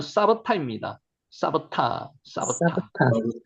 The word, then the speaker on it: 삽다: 쌉다 쌉다는 실제로 발음은 사바타입니다. 사바타 사바타 사바타 예 근데 이제 제일 좋게는 원어를